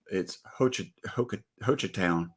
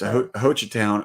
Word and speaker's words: Hochatown: So I thought it was cool because it's Hochatown. That's how you pronounce it. Sounds like Hoochie. It's Hochatown, Oklahoma, but they're like big into Bigfoot.